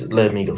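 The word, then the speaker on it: Liamuiga: Is that how you pronounce it? You said Liamuga before. Yeah, I was thinking of the Pokemon. What? It's Liamuga, but right.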